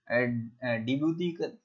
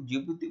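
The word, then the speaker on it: Djibouti: यहाँ पर जिबूती, देखिए यहाँ पर डिबूती टाइप का लिखा हुआ होता है, डिसाइलेंट हो जाता है इसलिए इसको जिबूती बोलते हैं।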